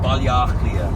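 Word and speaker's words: Baile Átha Cliath: Balliachlia.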